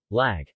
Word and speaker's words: lág: L, L, similar to English. L. In lean, but with the tip of the tongue against the top teeth, never as in English kneel. Lag.